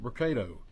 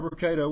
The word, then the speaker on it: Brocato: the podium today will be Hoover Mayor Frank Brocato, spelled Brocato, and Hoover Police Chief Nick Derzis, spelled Derzis. You may also hear from Lieutenant Daniel Lowe, spelled Lowe, of the Hoover Police Investigations Division. Mayor Brocato will make a brief opening statement, and then